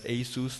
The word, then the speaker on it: ASUS: You just have to compete with companies like HTC, ASUS, or they're pronounced as ASUS now, Acer, and also TSMC.